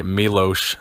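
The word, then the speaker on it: Miloš: me Louis Arsuf I guess I should say Milosz since so many people are correcting me on the pronunciation of his name that was a big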